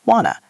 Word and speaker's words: wanna: What do you becomes what do you want to becomes wanna? It's one big sound soup.